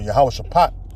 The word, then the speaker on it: Jehoshaphat: in the valley of Jehoshaphat all right or yahawah shapat all right is how you say in the ancient Pano Hebrew so he can judge